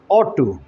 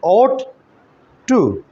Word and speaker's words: ought to: वो वर्ड है ऑट टू। इसकी प्रोनाउंसिएशन जो है वो आप समझ लीजिए, ऑट टू।